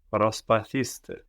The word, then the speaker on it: Προσπαθήστε: Προσπαθήστε. Προσπαθήστε. And the accent is on the e, προσπαθήστε, as if it were third from the end, as if that end didn't disappear, as if it were προσπαθήσετε.